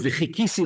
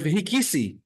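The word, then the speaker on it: וחכיתי: you mispronounce the word v'chikisi lashem, and you pronounce the word v'hikisi lashem, sort of like many you can say Tamanim or Moroccans do. They say a het instead of a ches, and it sounds like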